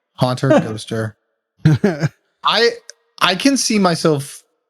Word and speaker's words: Ghosther: of our friends in GHOSTHER, which I think is how it's got to be pronounced. GHOSTHER? Like a Pokemon, maybe. Haunter, GHOSTHER.